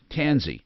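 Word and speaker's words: Tansey: uh tanzi t-a-n-s-e-y tansy okay yep as in as in pansy it rhymes with pansy okay so pansies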